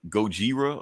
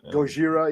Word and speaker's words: Gojira: leader yeah but don't Japanese also say like Gojira or something Gojira yeah yeah so um which is funny I